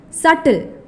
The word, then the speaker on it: subtle: where H is silent subtle s-u-b-t-l-e where B is silent tip 3 homophones homophones